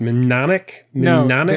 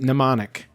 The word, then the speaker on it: mnemonic: want to know about mnemonic deluge or however you pronounce that word i hate saying that word menonic m is silent mnemonic it's a mnemonic device